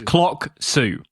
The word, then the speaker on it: Clocksu: Yeah, it's Clocksu. So clock, tell the time, and then Sue like the name.